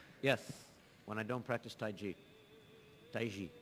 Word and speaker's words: Taiji: when I don't practice Tai ji tae ji it's real pronounced IG but people say Tai Chi but the Chinese people really pronounced the Taiji toys use an energy